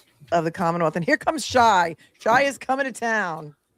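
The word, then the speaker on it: Xia: My name is Shy. It's spelled X I A C H A R L E S.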